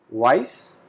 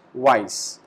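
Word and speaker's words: weiß: The pronunciation of this character is double s. So we pronounce it like this, weiss, and in English, white.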